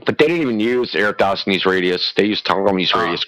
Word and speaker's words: Eratosthenes: This comes from how do you say his name? Aristotlenes? Eratosthenes.